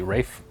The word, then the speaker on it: Ralph: A lot of people were commenting how we were saying Ralph Fiennes' name wrong. It's actually Rafe Fiennes.